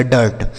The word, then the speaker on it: dirt: आगे DIRT, डी से हो गया दोस्तों ड, इस आई का उच्चारण अ हो गया, आर से र और टी से ट, लिखा गया डर्ट।